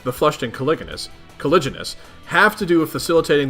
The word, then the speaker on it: caliginous: how is con cupid oh it's a soft G okay caliginous concupiscent how is that